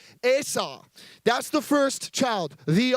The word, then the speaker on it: Esau: Now, it's actually pronounced, I'm really picky about how I pronounce people's names because I don't want to be rude. So his name is actually Esau. Okay, so everyone say Esau.